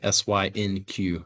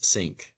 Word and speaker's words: SynQ: name for our software know there's often some uh pronunciation issues with that synq is what a lot of people call it but I will just uh go ahead and tell you it is sync when you hear us